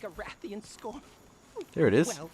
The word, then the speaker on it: Rathian: You know, for the longest time I've called this thing a Rathion. It's pronounced Rathian, not Eon.